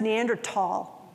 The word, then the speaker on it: Neanderthal: And it's pronounced Neanderthal. Neanderthal. Not thal.